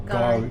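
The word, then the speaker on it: K'gari: Or Gari. Gari, that's They- right. The they K put- is silent. They put a K in for God knows what reason, but yeah. So it's called Gari, but it used to be called Fraser Island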